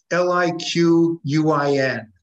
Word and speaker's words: Liquin: How do you spell it? L-I-Q-U-I-N.